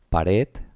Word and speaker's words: pared: Pues la regla nos dice que las palabras agudas es cuando el acento, la sílaba tónica, el acento prosódico, está en la última sílaba. Por ejemplo, la palabra pared tiene 2 sílabas, una